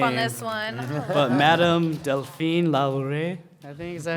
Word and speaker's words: Delphine Lalaurie: but Madame Delphine Lalaurie, I think is that how you say it?